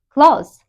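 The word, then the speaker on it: clothes: No, it is pronounced as clause.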